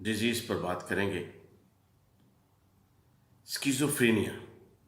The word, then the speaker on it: schizophrenia: پر بات کریں گے، اسکیزوفرینیا۔ اسکیزوفرینیا جس کو ہم اپنے عام ایکسنٹ میں پروننسیشن میں شیزوفرینیا کہتے ہیں، دیسی جو ہمارا تلفظ